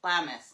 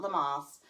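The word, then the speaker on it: Lammas: Lamus, not Lamas. Lamis. It's L A M M A S.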